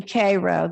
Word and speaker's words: Cairo: so the first one is the k row that's the way they pronounce it rosenwald school in cairo